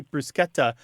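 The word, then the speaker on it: bruschetta: the the better choice it should be more like the SE in school or scheme or the American pronunciation of schedule and I I think if people think of those SCS then they won't be feel like they need to turn into the sh sound yes Monica I am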